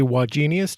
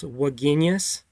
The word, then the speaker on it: Wagenius: I'm tempted to say wagenius. Do you get that a lot? I get that a lot. And and to be really precise, it's three syllables. Waginius with the emphasis on the middle syllable, but I'm not doctrinary